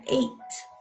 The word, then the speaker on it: ate: Se pronuncia ate, como el número 8, ate.